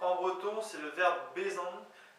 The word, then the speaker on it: bezañ: le verbe être pour tout ce qui est prononciation encore une fois venez m'excuser j'essayie d'aider donc être en breton c'est le verbe bon B e Z a n ti sur le